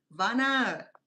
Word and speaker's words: Vanna: You can call me Vanna. People call me Van Vanna, but this is Vana in Cambodian pronunciation.